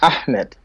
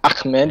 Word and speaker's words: Ahmed: And you said it wrong, man. It's Ahmed, not Ahmed.